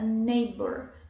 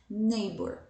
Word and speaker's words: neighbor: a as letras né as consoantes de em né gh não são pronunciadas né então a gente vai nem neighbor a gente não vai falar nele né não eles são silenciosos nembor quem my neighbor vai